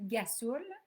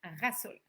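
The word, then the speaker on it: rhassoul: ce qu'on peut appeler, qui est souvent dit gasoul, mais qu'il faut qu'il soit prononcé rasoul.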